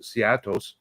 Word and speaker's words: Cetos: So, as suspected, Hera lands on the Cetos planet, or as Ahsoka pronounced it, Seatos. So it sounds a little bit like Seattle.